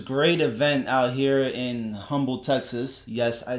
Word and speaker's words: Humble: event out here in Humble Texas yes I say humble it has an H in front of it okay I pronounce the H she put out as